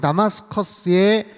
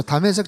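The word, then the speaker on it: 다메섹: 메세지 붙잡으러 가는 거예요 다색이라고 하면 오늘날 시리아의 수도인 다마스커스의 히브리식 발음입니다 스데반이 순교 당하고 나서 흩어지지아요 예루살렘에 있는 성도들이 흩어지 다색 쪽으로도 많이 가서 살고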